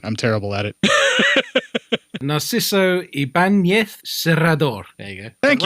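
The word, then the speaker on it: Ibáñez: Yeah, I just know Ibanez because of the guitars, and that's how I know how to pronounce it because of the guitars. But that's where it's unusual. That's where it's unusual because it isn't Ibanez. It's got an enye, which is a ny sound, so it's Ibanez.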